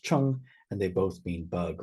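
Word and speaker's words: 虫: and one without, and they both are pronounced chung, and they both mean bug or insect.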